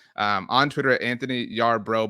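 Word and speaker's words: Yarbrough: um on Twitter Anthony Yar bro but the the Bro in their last name is b r o u g but the Twitter handle is like bro like brother um tweeted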